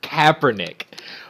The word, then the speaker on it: Kaepernick: Kaepernick.